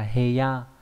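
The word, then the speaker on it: 部屋: Và đặc biệt trong chữ bộ và chữ ốc nó đọc là heya, có nghĩa là căn phòng.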